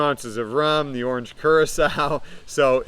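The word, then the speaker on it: Curaçao: And I actually had to look at how to pronounce this, but it's orange Curacao. So orange Curacao, also 1 ounce.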